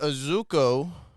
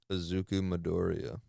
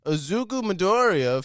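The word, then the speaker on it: Izuku Midoriya: breaking news I'm gonna butcher this name but azuko nope how do you say that azuku midoriya azuku midoriya famous famous anime character found local found found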